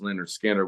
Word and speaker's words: Lynyrd Skynyrd: but uh like miles my first version of pronounced Leonard Skinner was on cassette and like he said Freebird